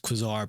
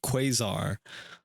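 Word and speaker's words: quasar: I I have heard it and maybe to many others have heard it not pronounced quizar but quazar.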